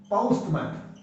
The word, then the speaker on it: postman: I will go there, and postman, औ diphthong आएगा, औ पौ, पोस्ट।